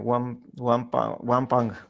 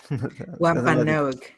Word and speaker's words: Wampanoag: Son, the pilgrims and the Wampang. Wampanoag.